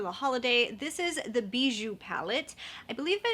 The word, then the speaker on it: Bijoux: it's pronounced that way has an x at the end but i think it's in french i did a pronunciation search and it said don't say the x so us americans would